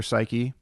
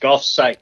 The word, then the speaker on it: Golf Psych: If I'm saying it right, is it golf psych or psyche? Nope, just golf psych.